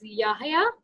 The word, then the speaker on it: Yahya: This boy's name is Yahya. Is it? Yeah. Am I pronouncing it correct? Yes. Yeah. So isn't he drawing? Yahya, how are you?